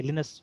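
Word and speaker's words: Linus: तो वो बोलता है कि मेरा वहाँ पे फिनलैंड में जो मेरा नाम का प्रोनाउंसिएशन है वो लिनस ही है, ठीक है, वहाँ लिनस ही बुलाया जाता है मुझे।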